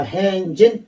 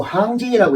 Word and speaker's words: 항진: 것을 그에게 물으시면 필릉사 행진 화목하고 반드시 행진이 아니고 항진이라고 읽어야 되겠네요. 대오를 이룬 군대를 말하기 때문에 줄 항자, 항호할 때 항자로 읽어야 되겠어. 항진이라는 것은 군대를 의미하죠.